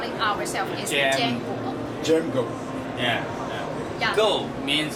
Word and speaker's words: JMGO: 的意思 So actually we call them with the jam go because it's just like the similar pronunciation like we pronounce our brand name in Chinese、mm. in Chinese name we call it ourselves is jam go jam go yeah go means 就是我们就很快快速增长快速飞那种 Understand.